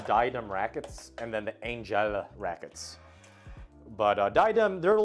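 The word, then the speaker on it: Angell: But Angel, A-N-G-E-L-L, so Angel, but with an extra L, so Angel, I believe that's how you pronounce it.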